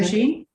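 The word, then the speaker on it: Róisín: It's Roisin. Roisin? Yeah, as an Irish name.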